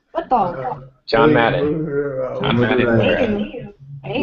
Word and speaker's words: Madureira: Madureira. Hey. Madureira, that's how you say it. Madureira. Did she say it? It's a Portuguese name.